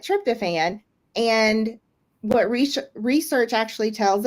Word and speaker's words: tryptophan: And tryptophan, thank you. I knew I wasn't going to be able to say the word. It looks different than it's spelled, but tryptophan.